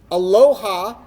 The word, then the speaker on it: aloha: For instance, aloha is pronounced a-lo-ha.